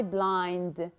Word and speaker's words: blind: have to take care this is b sound not p sound okay number two is